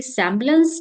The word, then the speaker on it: सेम्बलेंस: और वो वर्ड है, शब्द है हमारा सेम्बलेंस, स है, ठीक है, सेम्बलेंस लास्ट का,